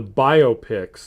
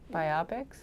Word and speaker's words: biopic: It's a parody of the biopics that they normally do for, like... Biopics? Well, it's biopic or biopic. You can pronounce it either way you want.